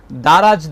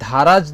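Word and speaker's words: দরাজ: লিরিকে তুমি ভুল করেছো দারাজ দিলকে তুমি ধারাজ দিল বলেছ যদিও এটা চট্টগ্রামের টান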